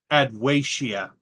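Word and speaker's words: Adwaita: For the record, because I watched this series way too much, it's actually pronounced Adwacia. Adwacia, thank you.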